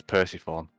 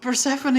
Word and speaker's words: Persephone: like an idiot like the first time i ever read the name persephone the greek goddess yeah i thought it was percy form yeah but persephone isn't exactly a common word